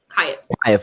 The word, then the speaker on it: Kyiv: Kyiv.